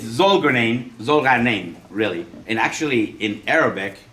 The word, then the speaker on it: Zolgharnian: Well, my last name is pronounced Smith. With a silent Z. Okay, it's Zolgharnian, really.